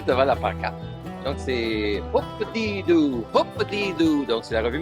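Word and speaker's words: Hoop-Dee-Doo: J'ai de la misère à te prononcer, alors je vais te prononcer devant la pancarte. Donc c'est Hoop-a-dee-doo, Hoop-a-dee-doo.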